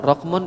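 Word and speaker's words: رقم: Bacanya apa itu? Rokmun. Pertanyaan, rokmun itu dalam keadaan rofa, nasab atau jar itu? Apa? Ayo jawab. Rofa. Sebab kalau nasab pasti rokman. Kalau jar pasti rokmin.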